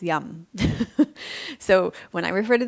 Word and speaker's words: Yama: And that means the yamas, as most of you know it as, but the correct pronunciation of yamas is yum.